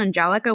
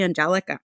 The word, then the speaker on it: Angelica: Followed by another individual that said, well, isn't it the same as the English version, Angelica? Why don't you just say Angelica?